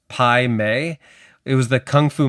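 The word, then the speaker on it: Pai Mei: For this first comment, you need to know that uh I I think it's pronounced Pi May.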